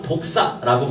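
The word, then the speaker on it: δόξα: 자, 이 영광이라고 하는 것은 우리 이제 발음상 독사라고 표현하거든요.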